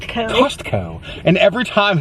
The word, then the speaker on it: Costco: And every time it's like, that's not how you say it. It's Costco. Call it Costco. Call it Costco. Thank you for shopping at Costco. Costco. Like she's very like enunciated. She puts the wrong emphasis on the wrong syllables.